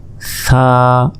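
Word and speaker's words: ثاء: জিহবা বের করে এক আলিফ টান, সা সা, জিহবা আগেই বের করতে হবে, এরপর উচ্চারণ করতে হবে।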